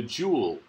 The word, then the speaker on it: joule: and M also called the Joule rhymes with cool in honor of James